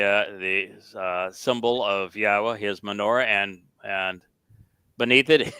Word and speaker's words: Yahowah: Torah so this is not difficult to to understand how to pronounce it and so it is